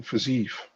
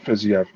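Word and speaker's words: Fiziev: drives me crazy that people saying physique the whole damn time instead of physio you said it right yeah so uh yeah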